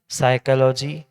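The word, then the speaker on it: psychology: Silent समझते हैं ना, साइकोलॉजी पी एस, ऐसा उसका स्पेलिंग होने पर पी को साइलेंट किया।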